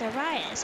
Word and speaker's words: Arias: Oh, it's Arias. Okay, cool. I've been mispronouncing his name the entire time.